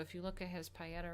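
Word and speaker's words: Pietà: Pieta with the little on the A. It's Italian. I feel like I'm saying paella, but I think it's the Pieta. Whatever.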